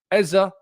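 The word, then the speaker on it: Eze: Eza has said both in interviews that I have witnessed and also with his Premier League pre-season comments that he pronounces it.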